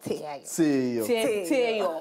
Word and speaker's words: Tseayo: Tseayo. Oh, okay. Tseayo.